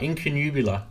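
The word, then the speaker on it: Incunabula: very very first album which is called in in canoe blur or sunrise I don't even remember how you say it let me just look it up quickly so I'm not being stupid here we're going yeah actually got it right in canoe Bueller so that was released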